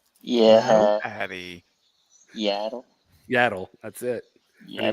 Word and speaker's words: Yaddle: Her name rhymes with paddle. Yeah. Addie. Yaddle.